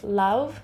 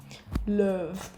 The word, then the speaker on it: Lauv: Is that how you say it? Lauv? Lauv? Love. I think it's love, but in like a basic way.